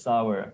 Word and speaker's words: sour: The dal is sour, or whatever.